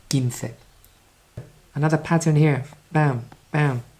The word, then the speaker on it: quince: Don't try to read it quince. It's a K sound at the beginning, quince.